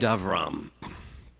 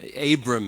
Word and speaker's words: Avram: sound of the word the name abram is is what his name is usually called by westerners who don't understand the way of pronunciation in hebrew abram but it's avram and avram is this